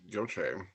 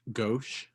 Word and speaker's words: gauche: yeah tommy that's totally joche i think it's pronounced gauche yeah it's it's french there's no accent yeah so the e